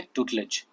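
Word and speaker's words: tutelage: This is actually pronunciation, okay, ट्यूटलेज।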